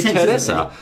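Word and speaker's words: テレサ: the name over there it is in fact Teresa Teresa Teresa for Buu Teresa Buu is actually Teresa I don't know why that is it's such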